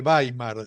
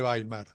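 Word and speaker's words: Weimar: Va a ser entonces se va a llamar la República de Baimar. Se escribe W e I m a r.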